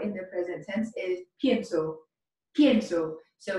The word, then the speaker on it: pienso: conjugation of pensar in the present tense is pienso so it's spelled p i e n s o step